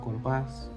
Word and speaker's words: compás: La sílaba tónica recae en la última. Llevan tilde cuando terminan en N, S o vocal. Por ejemplo, podría ser café, un compás o la palabra canción también.